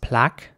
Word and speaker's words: plaque: Ace next up we have a word that is spelled p-l-a-q-u-e and in British English it would be pronounced plaque with r although some people in the UK